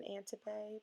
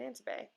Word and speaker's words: Antibes: And Antibes is spelled with an S at the end. It's a silent S, and I know that, and it's literally written on the ticket below, and I know that.